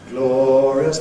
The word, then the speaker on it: glorious: Do you notice what's happening there? Glorious things. It's pronounced as 2 syllables. Glorious things. It's the same word, glorious, glorious. We make it 3 syllables or 2, depending on the scansion of the rest of the verse.